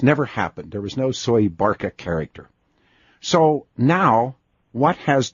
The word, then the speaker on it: Soebarkah: yes when you first said that and it's pronounced soy Barca as I that's pronounced Barca yes survived that's how they say Indonesian say soy Barca and I've gotten some email this when I